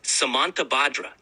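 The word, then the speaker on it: Samantabhadra: The pronunciation is Samantabadra.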